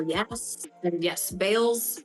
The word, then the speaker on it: Bayles: l yes and yes Bales is the correct correct way to say my last name um usually people say